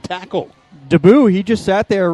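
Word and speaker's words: Deboue: by ron debut deboe d-e-b-o-u-e and it's pronounced daboo and he's in the backfield penetrating and the junior linebacker will spill garbage for the loss of two to the 34 off right tackle daboo he just sat there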